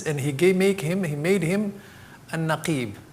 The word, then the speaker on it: Naqib: Prophet ﷺ allegiance, and he made him a Naqib. Naqib, I'm going to spell it for you.